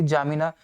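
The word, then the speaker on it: N'Djamena: जुबा, चार्ट की आपकी जामिना, डी साइलेंट है, जामिना हो जाएगा।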